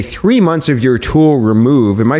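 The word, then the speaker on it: rmoov: months of your tool remove. Am I saying that correct? It's just you pronounced it like remove, like the word remove.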